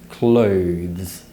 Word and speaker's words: clothes: falling vowel is a diphthong so make sure you transition from the schwa sound uh to the u sound oh clothes the final consonant cluster is the most difficult part of the word to pronounce because most students struggle to pronounce the sound so remember to raise the tip of the tongue towards the top teeth when you produce the sound to produce the following sound simply relax the tip of the tongue and